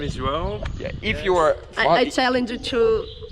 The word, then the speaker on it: João: My name is João. I challenge you to pronounce João.